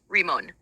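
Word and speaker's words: רימון: pomegranate in Hebrew sorry word for pomegranate in Hebrew is one pronounced remon in Jewish symbolism the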